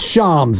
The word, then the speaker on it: Shams: play again for you the Sham chirania Miss pronouncing Brandon pamy it's Shams by the way I know but I'm doing